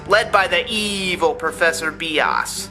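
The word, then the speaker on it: Bias: by the evil professor B oz stop giggling and for those about to write a comment saying I'm doing it wrong that's how it's pronounced he and his three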